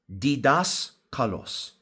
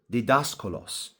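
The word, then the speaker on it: διδάσκαλος: So the Greek word teachers is called and pronounced didaskalos. Again, didaskalos. So the Greek word which we're deriving teachers from in this passage is didaskalos.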